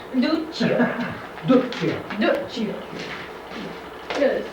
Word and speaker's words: Duccio: Duccio. Duccio. Duccio. You gotta spell it right too.